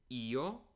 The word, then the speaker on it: ho: present tense we say e the H is silent to I and so